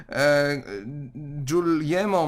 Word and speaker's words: Guglielmo: Urządzenie takie, tak zwane, byśmy powiedzieli, radio pierwsze, opatentowuje Guglielmo Marconi, tak to się czyta, pisze się Guglielmo, może zapiszmy sobie w ogóle te nazwiska.